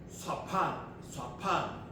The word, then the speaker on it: 사반: 또 사반. 이 사반은 사실 잘 모를 수 있어요. 교회를 많이 다녀도 모를 수 있어요. 사반은 원래 히브리 말로 사반 발음이 나요. 그거 어떻게 되냐면 사반 이렇게 말하면 원래는 쏴판 이렇게 돼요.